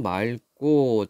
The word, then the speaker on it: 맑고: 발음으로 읽어보자 휴일은 오늘은 맑고 자 리을 기억 받침 뒤에 기억이 오면은 리을로 발음합니다 그래서 맑고 휴일인 오늘